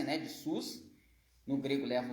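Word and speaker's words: סוס: Então aqui é sus. Aqui é sus, em hebraico, aqui se escreve sus, que é cavalo.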